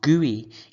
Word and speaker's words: GUI: Graphical User Interface, GUI, which is pronounced GUI, is the software that allows us to interact with our computer.